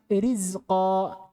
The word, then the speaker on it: rizqa: Ini yang pertama, ra-nya dikasrah. Contoh nahu rizqa, rizqa, bukan nuri, tapi ri. Rizqa.